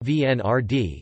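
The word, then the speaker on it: Венера-Д: Venera d russian Venera d pronounced vnr d is a proposed russian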